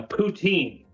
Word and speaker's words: poutine: don't know what a poutine is and you can pronounce it if you're French people say poutin um mainly all of all of the rest of Canada will say poutine uh what it is